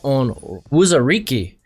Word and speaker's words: Onwuzurike: At 5, I have Levi Onwuzurike. Been saying this name wrong for like last year.